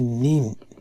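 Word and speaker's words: 人: তো এটার একটা সাউন্ড হচ্ছে হিতো, আবার আরেকটা সাউন্ড হচ্ছে নিন, নিন, হিতো নিন।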